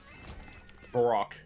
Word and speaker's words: Baroque: then just Is a that how you fucking pronounce it? Baroque, yeah.